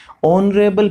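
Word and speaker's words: honourable: ऑनरेबल person, तो यहाँ पे एच साइलेंट है, ऑनरेबल आ रहा है, ओ का उच्चारण हो रहा है, इसलिए एन का प्रयोग होगा, एन ऑनरेबल पर्सन।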